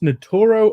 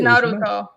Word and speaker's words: Naruto: like was is it pronounced notoro or Naruto and what is it pronounced natoro or Naruto I have no idea I think it's Naruto Naruto Okay but um you know